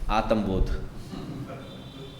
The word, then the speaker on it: Atmabodha: Thus, we come to the end of Atmabodha. If you are a Punjabi, then it is not Atmabodha. It is Atmabodha. They have that shortening and lengthening of the syllables.